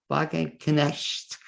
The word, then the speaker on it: Wagenknecht: It's next my pleasure to introduce my second guest in tonight's show, and she is the infamous Laura Wagenknecht. Laura W. Help me with it, Laura. Pronunciation. Wagenknecht.